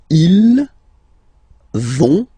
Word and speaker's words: ils vont: So ils vont, final T not pronounced, ils vont, and then feminine form, elles vont.